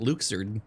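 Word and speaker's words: Luxord: yeah there he is I always pronounce I would pronounce it luck sword because it makes a lot of sense but they pronounce it Luke sirden none of your concerned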